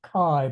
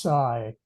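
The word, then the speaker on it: Cai: spells it C AI so we we would pronounce it Kai but I'm told that in Chinese it's should be pronounced Sai yeah yeah yeah so side dun Shen tried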